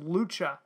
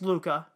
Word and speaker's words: Luca: think it's actually pronounced lucha no i think it's luca because lucha would have an h in it um and his best friend alberto during their unforgettable summer you won't want to miss luca diving in there's june